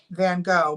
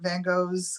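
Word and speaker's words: Van Gogh: his name right um van go but it's like it's it's dutch so it's like Vango um he says it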